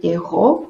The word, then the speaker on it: εγώ: Wird eigentlich nicht Ego ausgesprochen, sondern εγώ.